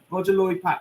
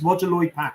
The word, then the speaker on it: Roger Lloyd Pack: having a trigger moment myself is it roger roger lloyd pacquiao i always get his name wrong i always call him john something i know it's roger lloyd pack isn't it yes the trigger in highgate cemetery